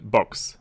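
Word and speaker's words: Bochs: an operating system Windows in this case in box box being B um CSH I I or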